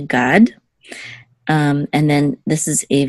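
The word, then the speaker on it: גָּד: Okay, so this is a gimel with a kamatz and the dal together we say gad.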